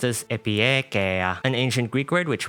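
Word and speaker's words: Epieikeia: Her codename is pronounced as Epiekea, an ancient Greek word which means reasonableness or equity or fairness.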